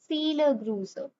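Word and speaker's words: Viele Grüße: It's not V, you know. हम इसको क्या प्रोनाउंस करते हैं V को? F. तो it would be feel a bruise.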